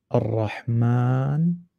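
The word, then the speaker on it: الرحمن: So you pull it, ar-Rahman, like that. And because people constantly wrote it like this, then just to shorten, they scratched out this alif in writing. However, in pronunciation, it's still there.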